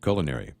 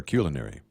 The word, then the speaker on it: culinary: I just wanted to say that either pronunciation is correct of culinary or culinary. Huh. In Texas, we say culinary.